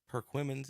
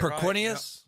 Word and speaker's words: Perquimans: going to do is figure out how to pronounce their name. Tom, do you know what this Perquimans is? Is that right? Yep. Did I just say it Perquinius? right? Wow. Perquimans.